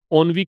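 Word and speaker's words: ennui: 4 number, the word ओनवी, इसका pronunciation बताया था मैंने आपको। ओनवी कहलाता है ये वर्ड।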